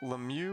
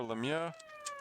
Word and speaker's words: Lemieux: So slapshot asks is it Lemieux or Lemma? I think the official NHL pronunciation is Lemieux. Uh but in in French Yeah, it' be Lemieux if you were saying it in French and then you Yeah, I noticed in Really?